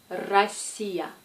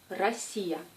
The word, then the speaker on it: Россия: Cette lettre est un faux ami. J'imagine que vous voulez la prononcer comme P, mais se prononce comme R. R. Comme dans le mot Россия. Россия.